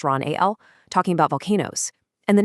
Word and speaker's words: Ahl: One month you might have someone like Ron Ahl, that's pronounced Ron A-L, talking about volcanoes.